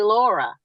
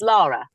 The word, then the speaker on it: Lara Croft: Yes, Americans usually say Laura. Yes. And that just sends the British people. It's like, oh my God. It's Lara. Lara, for goodness sake. Yep. Lara Croft, yes.